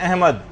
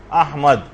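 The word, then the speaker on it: أحمد: یعنی صحیح تلفظ ہے، الف پر زبر ہے، ہا جو ہے وہ ساکن ہے، میم کے اوپر زبر ہے، اور دال جو ہے وہ ساکن، احمد۔ تو بعض اوقات اس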